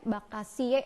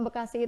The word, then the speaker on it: Bekasi: Nah, Bakasie itu kan pengucapan pelafalan orang Belanda. Begitu kena sama orang yang di sekitar Lemah Abang itu misalkan ya, itu kan kalau Bekasi itu kan Sunda pinggiran ibaratnya gitu ya. Bakasi akhirnya jadi Bekasi gitu.